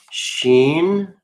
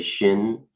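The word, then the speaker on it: ש: It's spelled kaf, sheen. Some people say shin. The I is always pronounced like an E in the ancient. So this is sheen.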